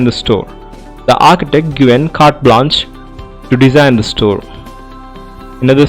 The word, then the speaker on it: carte blanche: Carte blanche. I repeat the word CARTEBLANCHE. It is pronounced as carte blanche.